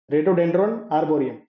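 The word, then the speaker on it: Rhododendron arboreum: इसका scientific name है रे रेडियो डन आर्बियन रेडियो ड्रोन आबोम ये साइलेंट है इसका टीप रेड डेंड्रो आर्बियन सो बुरांस इज आ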